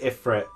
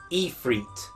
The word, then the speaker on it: Ifrit: No, they don't pronounce it Ifrit. We've apparently been doing it wrong. How do they pronounce it? Ifrit.